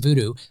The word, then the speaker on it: Vodou: Now, in Haitian Vodou, which modern days is pronounced voodoo, zombies are believed to